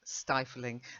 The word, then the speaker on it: stifling: But the pronunciation, the I, which has been modified by the E, remains stifling. The only way you get the I sound is if, like in piffling, you've got a double F.